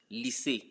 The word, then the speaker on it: lycée: In this case, Y is sounding as E, lycée, physique.